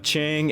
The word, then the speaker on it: Qiang: word I googled it Qi is pronounced CH in English so if Google is wrong then screw Google I did the best I could we have Chang a prototype wing coaster